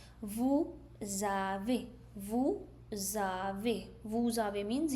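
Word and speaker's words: vous avez: Those who have pronounced vu zave. That's right. Vu zave.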